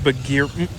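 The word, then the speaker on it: Bagheera: Because one of them looked like Baggy over here. Actually, it's pronounced Bagir.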